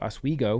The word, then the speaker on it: Oswego: Practically lived in Bear Mountain, and my best friend went to Oswego.